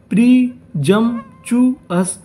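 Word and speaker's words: presumptuous: पी का उच्चारण हम लोग ऐसे करेंगे कि सामने वाले इंसान को ये ना पता चले कि हमने पी बोला है कि नहीं।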